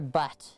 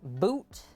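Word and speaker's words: Bhut: do you say it is it boot boot or butt boot jolokia okay that give this a wipe boot okay we got our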